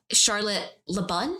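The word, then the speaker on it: Charlotte Le Bon: film stars oscar isaac charlotte le bun i think is how it's pronounced and christian bale so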